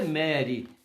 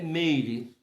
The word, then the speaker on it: Meire: Aí depois eu falei com a minha esposa, e não se pronuncia Mary, é Meire.